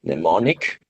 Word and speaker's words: Mnemonic: cyberpunk theme movies, like Johnny, how do I pronounce it? Mnemonic.